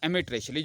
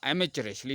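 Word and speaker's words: amateurishly: करें, that is called एमेट्रेशली या एमेचरेशली। इसकी दोनों प्रोनाउंसिएशन है, एमेट्रेशली भी पढ़ लेते हैं इसको, एमेचरेशली भी पढ़ते हैं।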